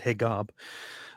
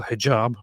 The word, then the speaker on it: Hijab: Um, it's because this is so it is still hijab, but this is usually how Egyptians um spell it or it's it's a common thing of uh in Egyptian Arabic dialect to use the G instead.